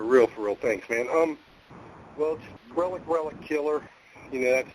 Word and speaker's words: RelliK: thanks man um well Relic Relic killer you know that's the say my name three times it's killer then it's Relic r e l i